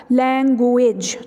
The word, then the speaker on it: language: डॉ0 गिरीश अब देखिए इसको हम स्पेयरिंग के हिसाब से गलत प्रणाम करते हैं ठीक है क्योंकि इसमें जी है तो हम समझते हैं शायद वह बोला भी ऐसे ही जाएगा लैंग्वेज ठीक है एंड यहां पर रोक प्रनंसीएशन बजाय इसके इसमें बिल्कुल वी की प्रनंसीएशन बनती है ठीक है लैंग्वेज ठीक पर ना उस लाइक लैंग्वेज हम यह को वी के